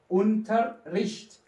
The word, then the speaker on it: Unterricht: بهي الحالة أنت إجباري رح توقف شوي لأنه بدك تلفظ الRين. بهي الكلمة هتلفظ الRين ورا بعضهم.